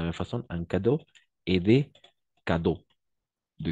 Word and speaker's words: cadeaux: réel d'accord des cadeaux Cadeaux toujours haut on va prononcer o a la combinaison des voyelles à eau et eau x on va toujours prononcer o d'accord en cadeau des